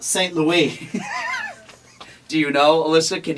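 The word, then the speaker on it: St. Louis: flight Ron St Louis no it was not St Louis it's pronounced St Louie do you know Alyssa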